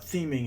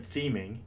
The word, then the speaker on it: theming: little bit about what theming in Drupal really is first off the word theming is pronounced kind of like scheming and spell just like